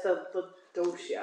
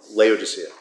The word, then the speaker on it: Laodicea: That's the Docia. Yeah, Laodicea. I don't pronounce things correctly.